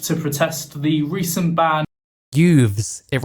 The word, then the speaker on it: Yves: with the ship no it's not ybes with a B it's Yves with a V it rhymes with Hooves you know how horses